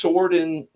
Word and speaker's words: Sordin: It's Sordin because it's from Sweden. It's sword in. No one says sword. It's sword. Swordin.